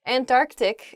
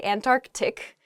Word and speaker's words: Antarctic: really oh i guess when you're saying this word quickly you might leave out that first c in the antarctic so don't say that don't do that say antarctic the the very very